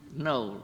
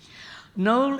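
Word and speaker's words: Knole: And we didn't know where we were going, but we happened to see a signpost to Knowle. Now, Knowle, in the typical British spelling, is spelled K-N-O-L-E, right?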